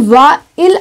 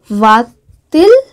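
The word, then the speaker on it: va-t-il: But when I say va il, it's not that smooth pronunciation. So, for a better pronunciation, whenever two vowels come together like this, and especially in inversion, we add a T between them. So, this would be va til à l'école. So, when you add a T, so the pronunciation is now much smoother.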